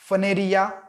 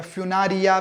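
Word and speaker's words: Funaria: Examples क्या है, pronunciation पे ध्यान रखना, फनेरिया या फ्यूनारिया भी बोल सकते हो। फनेरिया बोलो, फनेरिया, फ्यूनारिया जैसे प्रोनाउंस करना है करो, मगर स्पेलिंग करेक्ट लिखो।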